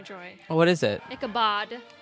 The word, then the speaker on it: Ichabod: Ichabod. Not Ichabod? Not Ichabod. Ichabod. Like bod, Like body. like Like Ichabod. like bod cologne.